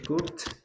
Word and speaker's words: cooked: Recuérdense que ese cooked es porque la ED se va a pronunciar como T en ese caso.